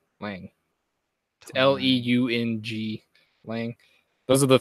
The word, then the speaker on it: Leung: Tony Leung? Lang? Lang.